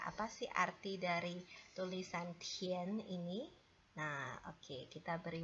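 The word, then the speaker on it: 田: Nah, tulisan ini bacanya adalah Tian.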